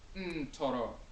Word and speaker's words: Ntoro: So NTR is not neter, and Akhan is pronounced Ntoro.